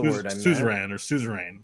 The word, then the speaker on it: suzerain: Suzerain or suzerain. So it's not Caesarian. Suzerain.